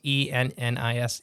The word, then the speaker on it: Ennis: E-N-N-I-S. Ennis. E-N-N what? I-S. Ennis. Ennis? Yeah. How you say it? Uh-huh. Okay, like Dennis. Yeah, without the D.